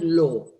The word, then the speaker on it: law: going to say the Lord of England. ¿Dónde está esta R in the word law? The word law, this is the word law, it doesn't have any R anywhere. There is no R.